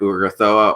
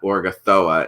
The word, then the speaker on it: Urgathoa: I might pronounce her name either Urgathoa or Ugathra. I actually think that Urgathoa is the correct pronunciation.